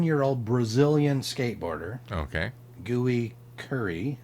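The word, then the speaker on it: Gui Khury: old brazilian skateboarder okay gooey curry okay gooey curry yeah sounds like bad food gui is the first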